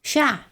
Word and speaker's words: chat: Chat. You don't pronounce the T.